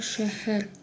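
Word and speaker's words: шәһәр: Это та же самая буква Х, как в русском, но только чуть-чуть с мягким произношением.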